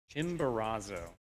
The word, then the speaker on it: Chimborazo: Chimborazo. That's how it's said.